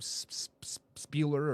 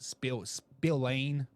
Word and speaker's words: Spillane: Spieler or Spila? How do you say it? Spillane. Just be smart, man.